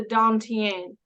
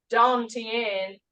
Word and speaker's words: Dantian: When you make that movement come from that Dantian, that's spelled Don, D-O-N, Tien, T-I-A-N.